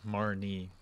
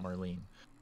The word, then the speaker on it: Marnie: like a grandma name marnie rhymes with barney that was evelyn this looks like marlene's house it's marnie not marlene marny marny i got